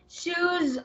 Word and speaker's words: shoes: shoes on shoes on Yeah with the letter z sound at the end kong shoes on shoes on okay